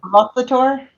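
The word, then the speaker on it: Arauthator: Rothator? Rothator. There it is. Hit that second syllable.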